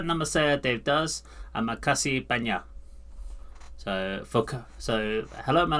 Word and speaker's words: makasih banyak: Makasih banyak.